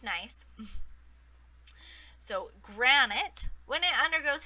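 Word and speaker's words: gneiss: is a tricky word it is pronounced nice like oh nice to meet you right it's pronounced nice so granite when it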